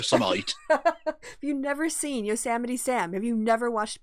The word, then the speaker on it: Yosemite: him awful speech and he pronounced yosemite as your semite yeah i saw i didn't see the name repeated it wrong he said it twice wrong and i was like oh you know it's yosemite i'm not even from